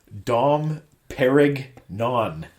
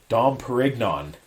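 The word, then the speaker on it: Dom Pérignon: My favorite part is her pronunciation of the champagne. Dom Perignon is what she calls it. Dom Perignon. And he's like, Dom Perignon.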